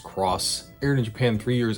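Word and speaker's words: Xros: titled digimon cross wars yes it's pronounced cross aired in japan three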